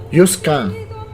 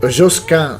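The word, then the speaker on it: Josquin: è la pronuncia Latina josc è la pronuncia francese Pertanto depr è stato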